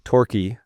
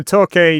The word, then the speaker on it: Torquay: Well, I years ago, there was a conference in Torquay. Did I pronounce that right? Torquay.